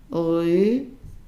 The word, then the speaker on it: enrhumé: So enrhumé. The H is silent.